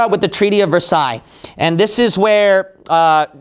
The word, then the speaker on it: Versailles: okay here we go I think you pronounce this Versailles right Treaty of Versailles is that correct all right Versailles okay Versailles all right Treaty of Versailles